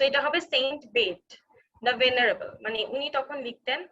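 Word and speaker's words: Bede: সো কেটমান, Saint বেড, অনেকে কিন্তু বেডে বলে বুঝায়, এখানে ইটা কিন্তু অ্যাকচুয়ালি আগে উচ্চারণ হতো, এখন আর উচ্চারণ হয় না। সো এটা হবে সেন্ট বেড দ্য ভেনারেবল, মানে উনি তখন লিখতেন, উনি মেইনলি হিস্ট্রি লিখেছিলেন।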